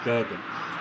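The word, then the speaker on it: Jürgen: It's a J. You say J. Why do you say Jurgen? It's not Y, it's Jurgen. Jurgen. But I guess you pronounce it Jurgen, but I like to say Jurgen. That's what I do. Not because I'm different, it's just the J's there.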